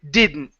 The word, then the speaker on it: didn't: wouldn't couldn't shouldn't okay mix the D and the end together you're going to focus more on the n than the d okay okay all right